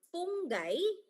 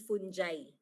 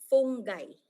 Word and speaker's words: fungi: Sa eukaryote naman yung mga microorganism meron tayong alge, fungay and protozoa. Okay? Fungay po ah hindi fungji. Nakasanayan kasi natin ang pronunciation ay fungi. It's actually fungai or fungus.